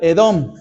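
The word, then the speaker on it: אדום: guiso rojo la palabra rojo la palabra rojo en hebreo se pronuncia edón por eso fíjense bien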